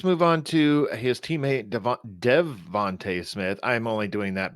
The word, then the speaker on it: DeVonta: All right, let's move on to his teammate Devonta Smith. I'm only doing that because I spelled his name wrong. I thought it was Devonte. Is it Devonte? Devonte? A at the end.